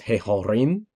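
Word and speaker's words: הֶהָרִים: So this is hehorim. Notice how the accent is on the resh.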